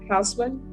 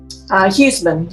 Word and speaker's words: Hausman: All right, the court is calling 2021 CR 2966, State of Texas versus Hausman. And am I pronouncing her name correctly, defense? Huseman, Your Honor.